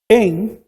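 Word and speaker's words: ἐν: En es una preposición que significa dentro de En griego se pronuncia exactamente igual, pero con caracteres distintos. La e es la y la n es la ni. Se pronuncia en y que significa también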